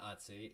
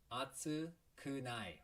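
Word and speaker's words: 暑くない: this is relative hey it's not atsui it's not hatsey it's atsu kunai right atsukunai okay so on the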